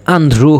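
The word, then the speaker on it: andrò: ইও এখানে একটু বুঝার বিষয় আছে আন্ধ্রু হবে আন্ধ্রু আন্ধ্রু মানে কি আন্ধ্রু মানে ভবিষ্যতের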